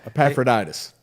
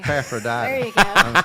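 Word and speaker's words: Epaphroditus: Says the commentary is about Epaphroditis. What? Epapraditus as Paul's helper in Philippians. Yeah. Epapraditis. Okay. Epaphroditis.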